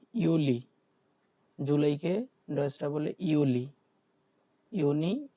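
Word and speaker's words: Juli: তারপর হচ্ছে কি ইউলি, জুলাইকে ডয়েচটা বলে ইউলি, ইউনি, ইউলি।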